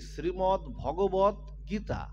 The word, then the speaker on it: শ্রীমৎ ভগবত গীতা: আছে, এই গ্রন্থটায় লেখা আছে শ্রীমৎ ভাগবত, কি লেখা আছে দেখেন তো, এখানে লেখা আছে কি শ্রীমৎ ভগবত গীতা, এখানে আকার কিন্তু নাই।